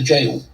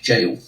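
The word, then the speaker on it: gaol: to a game at the jail that is how you pronounce it ladies and gentlemen it's an old english spelling it might be g-a-o-l but it's prone to jail um and it was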